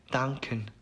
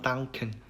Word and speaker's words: danken: 엔카는 이제 오키가 아니라 느크 약간 이런 발음이라고 생각을 하시면 좋을 것 같아요. 그래서 예시로 나온 단어를 읽어보면은 danken 그래서 뒤에 니은 받침과 이응 받침과 키읔 이렇게 해가지고 danken 이렇게 되겠죠, 발음이.